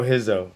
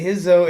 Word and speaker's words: Rizzo: Pedro Rizzo. I call him Rizzo because when I see the R, I always want to say R, but it's actually pronounced huh.